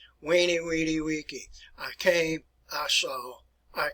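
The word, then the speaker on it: veni vidi vici: the future it's uh v e n e v i d i v i c i but it's pronounced as a w weenie weedy i came i saw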